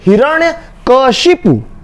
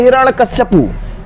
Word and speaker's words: हिरण्यकशिपु: होना क्या चाहिए, हिरण्यकशिपु, हिरण्यकशिपु, ये शुद्ध है। अशुद्ध है हिरण्यकश्यपु, हिरण्यकश्यपु बोलना यह अशुद्ध है, ये सही नहीं है। सही क्या है, हिरण्यकशिपु सही है।